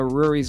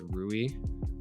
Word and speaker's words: Rui: like two weeks uh rory's after he came out i think i keep saying rory like r-u-r-i i know it's rui i don't know how to pronounce it to be honest scotty barnes uh b